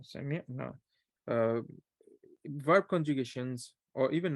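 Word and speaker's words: سمعنا: Be careful with the pronunciation. Sami'na.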